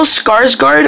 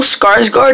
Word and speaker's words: Skarsgård: pretty cool um I have Sarah now bill skarsgård I believe is how you pronounce his name he was incredible incredibly awesome